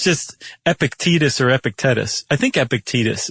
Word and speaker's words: Epictetus: important Stoicist uh Well, I'm going to pronounce it Ep- Epict- Epictetus? Epictetus. Epictetus? Sounds like a vaccine shot. It does. E P I C T E uh T U S.